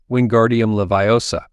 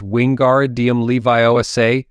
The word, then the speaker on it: Wingardium Leviosa: having much more luck wingardium levosa he shouted waving his long arms like a windmill you're saying it wrong Harry heard Hermione snap it's wingar DM Levi Osa make the gar nice and long you do it then